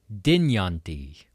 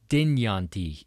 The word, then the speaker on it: Dynjandi: We've got Dynjandi. Dynjandi.